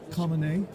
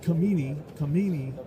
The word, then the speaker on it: Khamenei: What you see there is the supreme leader, spiritual leader of the country, Khamenei. It looks like Khamenei, but it's actually pronounced Khamenei, I found.